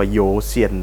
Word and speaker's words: YOUXAIN: มี ชื่อ แบรนด์ ว่า จริง ๆ เขา จะ อ่าน ว่า โยซียน นะ ครับ อัน นี้ จะ เขียน ว่า ประมาณ ว่า ยูซียน นะ ครับ เป็น แบรนด์